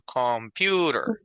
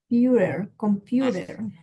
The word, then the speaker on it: computer: baset basket y computer la fuerza de voz va al medio computer computer entonces estas palabras de